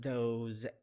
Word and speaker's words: those: The S in these words pronounced as Z sound.